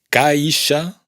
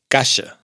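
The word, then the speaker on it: caixa: Por ejemplo, no es caisha, sino casha.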